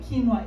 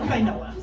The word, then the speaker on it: quinoa: But he's like, "That's what eggplant um know what quinoa is when they see it on a menu." And as I say, and can pronounce it correctly as opposed to kinoa.